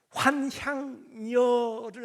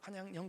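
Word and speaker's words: 환향녀: 여러분 그 환향여를 아십니까?이 발음을 좀 잘해야 돼요. 세게 해 가지고 환냥형 그러면 안 돼요.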